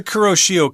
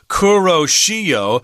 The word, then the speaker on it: Kuroshio: Japanese or in English when we pronounce Japanese words we tend to pronounce every syllable Kuroshio but if the Japanese are speaking they probably kind of scrunch all this together and say crucial or something like that hey ciao in Mandarin